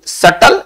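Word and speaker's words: subtle: Harmful, deceptive, deceitful, सटल, इसको सटल पढ़ेंगे, है ना, इसको पढ़ेंगे सटल, बी साइलेंट रहेगा।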